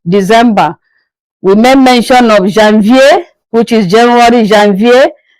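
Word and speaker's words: janvier: We made mention of Jeanvier which is January Jean Vier Feb Mar that's August September September October October November November December I hope You got all that.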